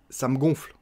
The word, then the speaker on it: ça me gonfle: Ça me gonfle, on mange le E et on dit ça me gonfle. Comme un ballon qu'on gonfle, hein, ça me gonfle.